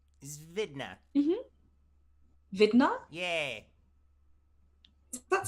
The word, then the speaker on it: Vidna: Her name is Vidna. Vidna? Yeah, Is that spelled with a W or a V?